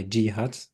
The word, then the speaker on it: Jeehut: you hello world I'm gut and you know me from socials by gut that's also how you say my name that's why it's my